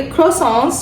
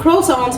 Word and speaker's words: croissant: लेकिन चूंकि हम एशियंस के मुंह पे क्रोसॉन्स चढ़ा हुआ है तो हम क्रोसॉन्स बोलते हैं, हम क्रॉसॉन्स नहीं बोलते, ठीक है, आर साइलेंट होता है।